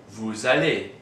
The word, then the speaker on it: vous allez: These two begin with vowels, which means that the S of nous and vous will be pronounced.